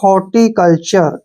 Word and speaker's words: हॉर्टिकल्चर: है र हो जाएगा कहीं भी अगर टी के बाद यू आर ई हो तो जो टी का उच्चारण है वो च होता है मैंने पिछले वीडियो में